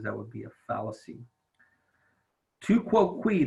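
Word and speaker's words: tu quoque: would be a fallacy to quote we that's how you pronounce this funny-looking word it's a Latin and it means you too so these kinds of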